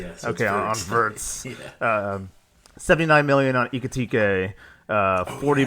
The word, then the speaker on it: Wirtz: Isak, 116 million on Wirtz. Yep. You're the German. Because in Germany, the W is pronounced as a V. Yeah, so okay, on Wirtz.